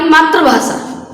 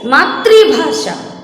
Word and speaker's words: मातृभाषा: हमारी मातृभाषा। मातृभाषा हमने लिखा मातृ, इसमें री की मात्रा लगाई जाएगी तब बनेगा ये मातृभाषा। लेकिन लोग उच्चारण करते हैं हमारी मातृभाषा। ये बिल्कुल गलत है बच्चों।